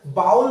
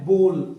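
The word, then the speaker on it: bowl: इसको बोल पढ़ना साथियों, बाउल नहीं होता, ये होता है बोल, यानी कटोरा होता है ना, उसको हम लोग बोल कहते हैं इंग्लिश के अंदर।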